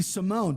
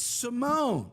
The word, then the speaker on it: Simone: Ricky Simone. Don't say Simon, okay? It's Simone, you son of a bitch.